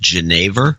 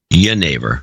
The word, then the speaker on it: Genever: And it's pronounced Genever? No, Genever. Yennefer.